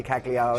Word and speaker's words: Cagliari: having much luck, so we can say Cagliari. She wanted to say calamari.